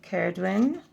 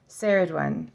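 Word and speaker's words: Cerridwen: Okay, Caradwin. Pretty sure I was right there. I mean, Sarah, she's saying a soft C. Saradwin. So I thought it was Caradwin. So it is Saradwin.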